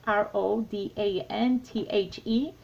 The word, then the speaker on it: Rodanthe: Now this one, today it's Nights in Rodanthe. Is that how you say it? It's Rodanthe.